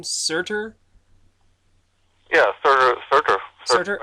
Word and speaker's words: Surtur: Yeah, Surtur.